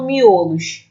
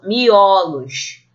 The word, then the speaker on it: miolos: Ó tônico ó miolo percebam que o é forte nessa palavra é miolo e ele é fechado o quando eu falo no plural Eu não falo miolos eu falo miolos então o osso torna